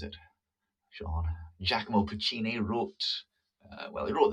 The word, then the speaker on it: Giacomo Puccini: a cygnet capital of brazil is brazilian uh giacomo puccini that's how you pronounce it sean giacomo puccini wrote uh well he wrote the music for